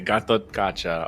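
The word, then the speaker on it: Gatotkaca: time I MLB honestly I just say gatot katcha ah okay gatot katcha okay I was wondering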